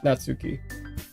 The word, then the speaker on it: Natsuki: Natsuki.